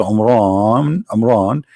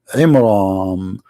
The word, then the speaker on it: Imran: the name wrong because it's not Amran, it is Imram, which means the last letter is M, not N.